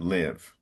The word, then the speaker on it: live: With that E at the end, that silent E normally would make the I open, but English is irregular. And in this case, it doesn't. So it's live.